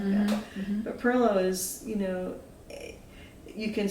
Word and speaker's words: pilau: still like we spell PLO here p i l a u it's the invisible R you know and it didn't it